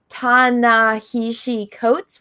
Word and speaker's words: Ta-Nehisi Coates: And this guy, his name is Ta-Nehisi Coates, which I always say his name wrong, so that's me saying it slowly.